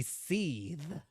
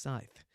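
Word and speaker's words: Sithe: Ooh, I go with Courtney Scythe, but the Japanese sounds more like Courtney Seethe. Seethe! As if she's, like, really angry all the time, ready to bubble over. It's pronounced Scythe.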